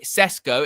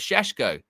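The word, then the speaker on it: Šeško: You know, um, Yurya says, "For f's sake, just say Cesco instead of Shesho." Hey, pronunciations matter.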